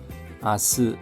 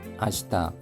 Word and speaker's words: 明日: 호야가라 오늘 밤부터 아스 아시다 아스도 공식적인 자리에서는 아스라는 발음을 사용하고 아시다는 일반적인 해와 같은 데서 사용합니다.